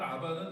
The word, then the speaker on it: 아바: 근데 여기서 말하는 아바는 아빠가 아니에요.